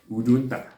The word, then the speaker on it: Udunta: Ikere, or some people call it Udunta. Ikere or Udunta. Ikere is spelled as I-K-E-R-E.